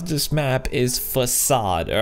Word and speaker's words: Facade: before we go any further the way you pronounce this map is facade all right I've been mispronouncing like crazy I've